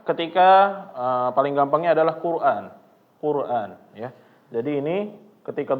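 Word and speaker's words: قرآن: keliru ya bapak-bapak yaitu ketika membaca Hamzah itu harus ditahkik ya namanya adalah dia benar-benar dibaca a jangan membacanya kalau misalnya kita malas ya bacaannya Jadi kurang jelas qura qura qura A a yang penting ada aanya aja nah ini keliru ya bapak-bapak jangan tetapi ketika kita masuk benar-benar diegasin Qur a Qur a ya Coba lagi Quran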